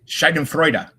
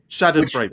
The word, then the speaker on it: Schadenfreude: In German, which I'm sure you probably already know this, is Schadenfreude. Or did I mispronounce that? You did. It's Schadenfreude, Schadenfreude.